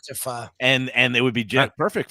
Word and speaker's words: pho: Is one of those tricky food words because it's spelled PHO, pho. Yeah, but it's I always thought it was pho. It's pronounced pho.